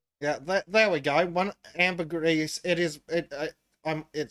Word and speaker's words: ambergris: don't you say that but Amber Greece is actually one of the names as in the word amber plus the word Greece as in uh right I see oh yeah and from in Latin it's Amber grisai so yeah there's definitely an s in that ambergris good enough foreign aluminum